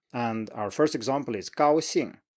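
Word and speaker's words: 高兴: You stay high and then you just keep high for the first tone, for the first syllable, and then you drop down. So 高兴, straight combination here.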